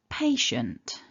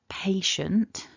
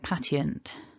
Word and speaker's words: patient: it all back together stressing syllable one repeat after me patient so here it is as we would write it remember our pronunciation is patient so the two I